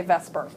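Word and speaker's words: VSEPR: call Vesper theory and I don't know how people actually pronounce that I've been saying Vesper my entire adult life valence shell electron pair repulsion I think most people say Vesper and what this says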